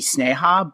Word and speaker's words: Sneha: her name might be Sneha, but I was in my research, someone who spoke the dialect, which I think is Hindi or an offset of Hindi, said that it's pronounced Sneha, so that's what I'm rolling with.